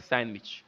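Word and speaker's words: sandwich: तो देखिए लिखा है सैंडविच, हम लोग सैंडविच पढ़ते हैं लेकिन इसको रियली में पढ़ते हैं सैंडविच।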